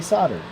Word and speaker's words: solder: for a moment because I caught some Flack for saying solder the way I say solder instead of over pronouncing the L and I just don't think that's right you know I know that folks from overseas and even in Canada really throw that l in there and I do not